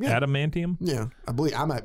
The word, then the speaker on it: adamantium: stuck into the ceiling he's got all that ad manum inning yep did I say that correctly adamantium yeah adamantium yeah I believe I might be saying it